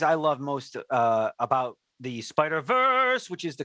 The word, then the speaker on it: Spider-Verse: I mean, one of the things I love most about the Spider-Verse, which is the correct pronunciation.